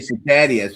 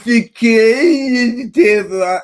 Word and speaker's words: cicada: When I say cicadias, people that it's cicada.